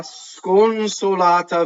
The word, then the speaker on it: sconsolata: La sconsolata vita. So la is this weak monosyllable. Sconsolata, right? lots of single consonants. Sconsolata. The N, however, is nasalized, right?